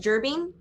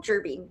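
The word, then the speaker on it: Jerbeen: Okay, so Rylan is a very, very small, I believe it's pronounced gerbine. Yeah. So he's a very small gerbine.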